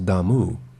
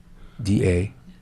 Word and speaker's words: Damu: D-A-M-U, I think it's Damu.